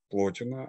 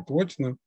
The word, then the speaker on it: Плотин: Теория эманации у нас сформулирована в произведениях Плотина, а именно в его «Инеадах». «Инеады» — это такой, можно сказать, сборник произведений Плотина, или Плотина, более правильное ударение, Плотин, которая состоит из 6 частей.